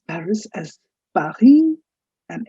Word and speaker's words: Paris: you have of course did you know we pronounced paris as parhim and it's not paris it's the silent pari you have lyon south